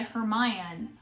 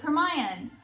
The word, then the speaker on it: Hermione: For me, I was really close. I said Hermione. I thought it was Hermione. So I was just like one syllable off.